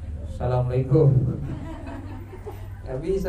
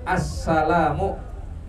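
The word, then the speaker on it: السَّلَامُ: bacanya lengkapam enggak bisa Asalamualaikum enggak bisa bu ya harus Assalamu Alif lamnya harus dibaca tuh assalamualaikum enggak cukup kadang Salamualaikum Asalamualaikum enggak bisa harus Assalamu ya enggak bisa asamualaikum Waalaikumsalam ya kalau dibalik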